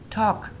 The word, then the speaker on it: talk: The L is silent. Talk, talk, talk.